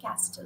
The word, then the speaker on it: castle: T is silent so Castle okay we don't say castle you say castle right listen T is silent and you see we